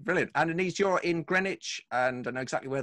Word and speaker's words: Greenwich: And Anis, you're in Greenwich, and I know exactly where that is in southeast London.